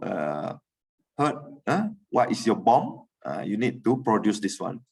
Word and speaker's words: BOM: we call as a bomb to pronounce the bill of material is bomb but always people's pronoun